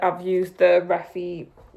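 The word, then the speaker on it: Refy: Like I've used the Reffy. Is that Reffy or Refi? Because I think it's Refi, but like for me,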